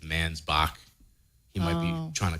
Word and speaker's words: Mansbach: writing that I have read is author Adam mansbach did I say that properly say it properly for me mans back man's back I should have